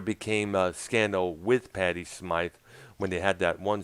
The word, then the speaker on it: Smyth: It's pronounced Smythe. And people presumed that it was Smith because of the way it was spelled there, but it was definitely Smythe.